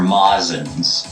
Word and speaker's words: Majin: Majin but the ones in the background are mazins so Majin is sort of like this outlier